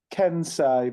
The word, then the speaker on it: Kensei: it right aren't I so it's um it's keni but we we don't really we we we don't we're don't really bother people pronounce it as long as you know the